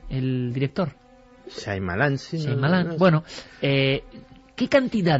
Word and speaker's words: Shyamalan: ¿cómo se pronuncia? Shyamalan, el director. Shyamalan, sí.